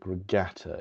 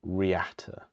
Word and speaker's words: Reatta: It's not the Buick Regata, it's the Buick Riata.